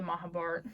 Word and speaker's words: Mahabharata: But the best audiobook I've honestly heard is the Mahabharata, like the Mahabharata. So I guess that's how the Indians pronounce it, is a Mahabharata, but usually they say Mahabharat.